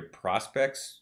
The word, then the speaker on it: PRSPCT: it might be under prospects bandcamp and keep in mind that prospect is spelled without any vowels so it's prspct um but i'm sure